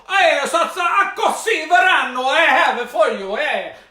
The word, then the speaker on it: Akoho Sy Voanio: But I believe I wrote down how you pronounce it. It's Akoho Sy Voanio. Akoho Sy Voanio. Akoho Sy Voanio.